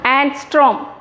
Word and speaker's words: angstrom: இது எப்படி pronounce பண்ணனும்னா angstrom.